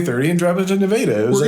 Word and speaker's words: Nevada: And it's spelled Nevada, but yeah, it's spelled Nevada, but in Iowa, we call it Nevada.